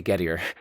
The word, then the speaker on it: Gettier: I know some people pronounce it as Gettier, but that seems to be a little bit pretentious, doesn't it? So I'm just going to say Gettier.